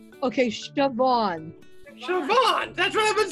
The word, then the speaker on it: Siobhan: No, Siobhan.